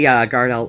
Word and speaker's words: Gardell: I look at the name and I want to pronounce it like Welsh because of the double L. But yeah, Billy Gardell.